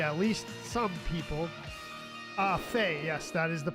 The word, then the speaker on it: Fi: Ah, Fay. Yes, that is the pronunciation.